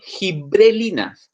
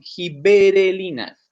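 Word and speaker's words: giberelinas: Ojo, no son gibrelinas, son gibberelinas. ¿Ya? Es muy común que cuando la gente las pronuncia como gibrelinas y eso está mal. ¿Ya? Es gibberelinas.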